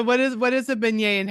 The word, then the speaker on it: beignet: And I've learned I've learned beignet, right? Is that how you say it? Very good. Yes.